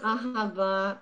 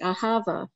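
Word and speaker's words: אהבה: There's that cosmetic company Well, I think that most people pronounce it Ahava, but it's Ahava, yeah.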